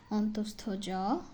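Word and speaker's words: অন্তঃস্থ য: বর্গগুলো শেষ এবার আছে অন্তস্থ জ অনেকেই অন্তেস্থ জ অন্তে জ কি কি যেন বলে থাকে কিন্তু না এটার শুদ্ধ উচ্চারণ অন্তস্থ জ এখানে লিখাও আছে এই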